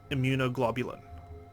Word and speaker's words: immunoglobulin: was there I knew it i G equals immunoglobulin thank you Luna for saying it out loud